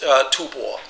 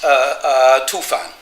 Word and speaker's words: Tufan: less than Paul Pelliot that this cannot be pronounced Tubor, that it should be pronounced Tufan.